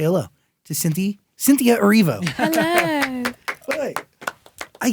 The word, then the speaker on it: Erivo: You have no idea how many times people mispronounce the Erivo in my name. So I was like, sure, Cynthia Erivo.